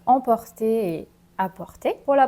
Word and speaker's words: apporter: Donc maintenant, on va passer à emporter et apporter. Pour la prononciation, apporter.